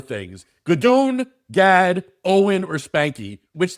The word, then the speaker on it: Gadoon: Gadoon is a name that I was given.